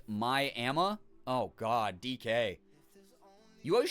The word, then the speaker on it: Miami: you feel better there's a town here called Miami pronounced my AMA oh God DK you